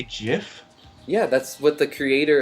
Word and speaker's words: GIF: okay you know use the Creator pronounces it Jeff so that kind of settles it Wow geez you say jiff yeah that's what the